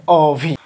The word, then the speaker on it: অভি: ঠিক এইভাবে অ এখানে দেখো, এখানে হবে সরিয়া, সরিয়া ভয় দীর্ঘি বা রস্যই অভি, সেটা উচ্চারণ হবে অভি।